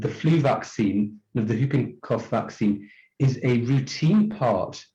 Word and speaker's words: whooping cough: I don't know why, but I think the W is silent. I think it's pronounced whooping cough. It is whooping cough.